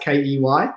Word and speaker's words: Ky: Key pronounced Key.